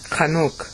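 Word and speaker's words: Chanoch: I mean, he's Hanukkah comes from his name, by the way. Chanuk is really more how you'd pronounce his name.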